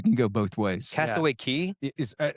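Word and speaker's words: Cay: I know Disney, uh, they take you to their island, Castaway Key. That's another thing. It is spelled C A Y, but it is pronounced key.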